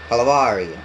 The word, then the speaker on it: Calvario: We say call var eo. Calvario. Calvario.